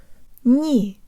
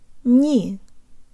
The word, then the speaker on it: не: Jaw slightly forward, tip of the tongue behind the bottom teeth, lips rounded and protruded. Ni. Ni. Ni. If yours sounds more like ni, you need to work more on shifting the position of your jaw, tongue, and lips.